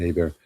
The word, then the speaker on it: Hebert: He is or Hubert, I guess he pronounces it. Down here we pronounce it Hebert.